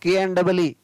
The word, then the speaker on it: knee: Next, KN से प्रारंभ होने वाले शब्दों में KN के K का उच्चारण नहीं होता है। जो भी शब्द KN से शुरू होता है, KN से, तो वहाँ पर K को नहीं पढ़ा जाता है।